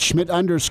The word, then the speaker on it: Schmidt: make sure you get Schmid spelled correctly it can be a tough one Germanic name completely yeah yeah so the D is silent so we got all